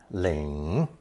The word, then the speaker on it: 领: Pronounced third tone, Ling.